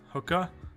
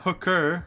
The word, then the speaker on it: hookah: hookah. It's like Hookah. it's like not hooker, hookah with an A. Oh, Hookah. okay. Yes. Hookah is the way most of the world pronounces it.